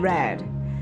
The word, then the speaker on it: read: だ So read and read. Red So this is これは代表格 pronounced か the も same way as the color red is akai.